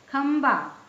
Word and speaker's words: खंबा: है गंधक ठीक है खंबा ये ख में तो बिंदी है ब देखिए ब कौन से वर्ग का है प वर्ग का प फ ब भ इसका पांचवा वर्ण क्या है म इसमें म का उच्चारण निकल रहा है खंबा जैसे